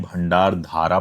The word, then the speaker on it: भंडारदरा: मैं पहले भंडार दरा को भंडार धारा प्रोनाउंस करता था। मैंने एक श्स पोस्ट किया है जिस पर किसी ने मुझे करेक्ट किया कि एक्चुअल प्रोनाउंसिएशन जो है वह भंडार धारा नहीं भंडार धरा है।